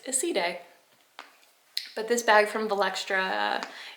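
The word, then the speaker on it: Iside: They posted it on Instagram, the correct way to say it, because I was always saying aside, or I don't know. I was always saying aside, but apparently it's Isside.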